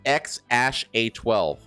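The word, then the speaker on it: X Æ A-12: So that that weird name is pronounced X Ash A12.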